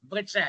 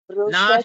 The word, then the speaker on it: वृष: Vru, Vru, Vrisha, no, Vrisha, like Kr in Krishna, Kr in Kritika, Vr in Vrinda, Vr in Vrindavan, Vr in Vriddambikai, Vr in Vriddachalam. Like that we should pronounce that word Vr.